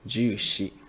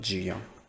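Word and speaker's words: 十四: 13, ju san, 14th, the number 14, you can say ju shi, not ju yong.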